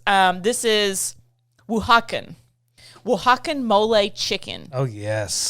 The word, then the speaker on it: Oaxacan: So this next word I had to pronounce. This is Oaxacan.